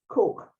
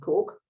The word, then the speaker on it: Coke: Lady Mary Cook, it's spelt Coke, but pronounced Cook.